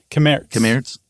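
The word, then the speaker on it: Cammaerts: Kamertz. Yeah, because the RTS would all be pronounced.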